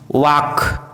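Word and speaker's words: walk: यदि किसी वर्ड में MN साथ में हो तो एन का उच्चारण साइलेंट होता है, जैसे autumn, column, dam, him, condemn, सोलम।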